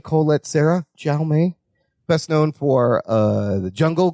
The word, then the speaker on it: Jaume: Jaume Colette Serra. Jaume.